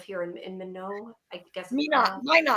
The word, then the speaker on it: Minot: Minot. It's pronounced Minot.